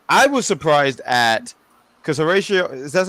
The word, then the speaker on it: Horacio: dominant uh lead I was surprised at because Horatio is that's how you say his name thank